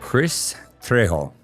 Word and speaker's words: Kris Trejo: Well, my guest today is Kris Trejo. I'm hoping I have pronounced that right.